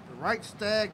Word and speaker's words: Reichstag: So I believe how you say it is the Reichstag fire. And when you look that up, it says the Reichstag fire was a major event in Germany on February 27, 1933, when the Reichstag building, the German parliament in Berlin, was set on fire.